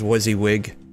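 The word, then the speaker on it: WYSIWYG: I'm not sure if I'm pronouncing that right, but I always just pronounce it as Wizzywig.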